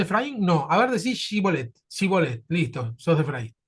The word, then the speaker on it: Shibolet: Parece que los de Efraim pronunciaban mal una palabra, ¿no?, que era shibolet. No le salía a decir el shi y decían sí.